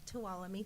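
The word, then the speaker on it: Tuolumne: item is the um um and I always mispronounce the county it's toam talami thank you toam County um with a few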